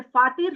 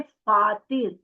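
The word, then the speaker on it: فاطر: सूरह फातिर शुरू करते हैं। ये इसको आपने प्रोनाउंस करना है फातिर।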